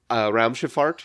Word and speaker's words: Raumschifffahrt: Well, your correction was to change the last syllable to fart. Yes, indeed. F-A-H-R-T.